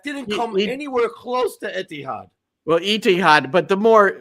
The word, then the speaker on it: Etihad: That didn't come anywhere close to Etihad. Well, Etihad, but the more the mispronunciation can be Etihad.